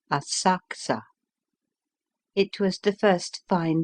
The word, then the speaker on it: Asakusa: Afterwards we went to visit the temple of Sensoji at Asakusa, spelled Asakusa, pronounced Asakusa.